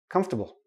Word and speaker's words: comfortable: a small tiny tiny little I in there comfortable come stop bull okay we don't pronounce the or comfortable nope don't do that